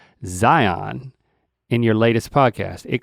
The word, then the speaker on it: Zion: It's Zion to the locals. That's been on my mind for a few days. Zion. Zion. We like to hit the second syllable, man.